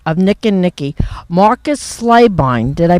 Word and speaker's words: Slabine: I'm here now with the director of Nick and Nicky, Marcus Slabine. Did I pronounce that right?